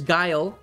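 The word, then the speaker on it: Guyal: sorry to interrupt you there's guile um which is uh one of the two guys with the um sort of uh tannish falcons then they spelled that g-u-y-a-l yeah that's how you spell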